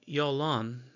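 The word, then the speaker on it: Jalon: The sons of Ezra were Jethreth, Mered, Epher, and Yolon, because the J is a Y pronunciation.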